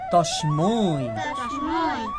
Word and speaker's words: তস্মৈ: চক্ষুরুন্মি লিতম ইয়েনো তস্মৈ। আচ্ছা, এখানে উচ্চারণের সময় দেখতে হবে, যেহেতু এটা ঐকার, তখন এটা হবে ত দন্তস্য তস, ম ঐকার মই, তস্মৈ।